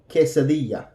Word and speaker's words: quesadilla: yellow ice yellow so this is the qu e okay like kitchen kit kitchen quesadilla quesadilla remember that the Double